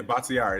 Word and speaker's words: Bakhtiari: Bakhtiari? Yeah, Bakhtiari.